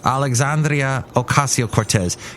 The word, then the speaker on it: Alexandria Ocasio-Cortez: Here's Alexandria Ocasio-Cortez. I refuse to call her AOC. Give her every syllable she deserves. Alexandria Ocasio-Cortez. Try and roll the R's if you can.